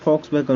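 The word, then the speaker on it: Volkswagen: दोस्तों ये लिखाता तो कुछ और है, लिखाता है वॉक्सवैगन VOW करके, लेकिन इसका जो उच्चारण होता है वो वॉक्सवैगन होता है।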